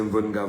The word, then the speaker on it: Mvenga: ma page Facebook, c'est Mvenga Voice, je prononce cela en langue Medimba, Mvenga Voice, parce qu'il s'agit également d'une appellation qui m'est propre en pays bangantais.